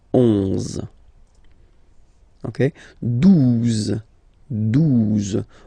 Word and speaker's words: douze: exist phonetically, onze, okay, douze, douze, O, U, the two together will give you the sound OO, okay, and then Z, douze, douze, alright.